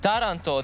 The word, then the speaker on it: Taranto: Taranto, the city in Italy, stresses on the first syllable.